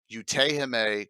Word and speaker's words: Utehime: June 11th, I have special guest Utehime Cosplay is how you pronounce it.